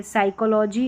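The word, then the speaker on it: psychology: पे pen paper plate लेकिन P silent रहता है यानी यहां पर देखिए साइकोलॉजी और निमोनिया यहां पर पी साइलेंट इस तरीके से पी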